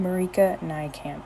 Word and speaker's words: Marieke Nijkamp: Marika Nijkamp is the author's pronunciation.